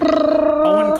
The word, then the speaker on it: Eoin: I think it's pronounced Owen Colfer.